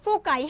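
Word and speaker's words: foci: এটা প্রোনাউন্সিয়েশনটা kind of ফোকাই।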